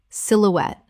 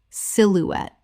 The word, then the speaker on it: silhouette: Silhouette. Common mispronunciation. Silhouette. Correct pronunciation. Silhouette. Three syllables with the stress on the final syllable. The E at the end is pronounced.